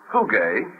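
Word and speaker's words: φυγή: you'll find that the Greek word for flight here is hug we would spell it I suppose p h u g e and it literally means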